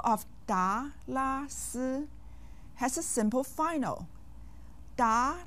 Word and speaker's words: 达拉斯: Each syllable of da, la, si has a simple final.